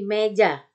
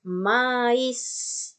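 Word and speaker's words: maïs: Kalau i-nya di sini nggak ada titik 2-nya, nggak ada tremanya, dia terbaca me. Tadi kan ya, a ketemu i dibaca e. Ya, seperti meja. Nah, tapi sekarang di atas i-nya ini ada titik 2, ada tremanya. Maka i-nya terbaca jelas dan huruf yang menyertainya kemudian itu terbaca jadinya. Jadi bukan me, tapi mais.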